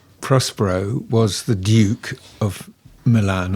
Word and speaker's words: Milan: And uh very briefly, Prospero was the Duke of Milan or Milan as it's pronounced in the play.